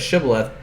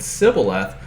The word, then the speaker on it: Shibboleth: And he said Shibboleth, and he said Sibboleth, for he could not frame to pronounce it right.